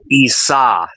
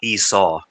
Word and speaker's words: Esau: It was like I always remember that it's actually pronounced Essa, not Esau, by the way.